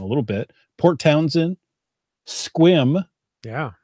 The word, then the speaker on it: Sequim: Port Townsend, Sequim, Yeah. or Sequim, as the non-natives like to pronounce it, Shelton, Belfair.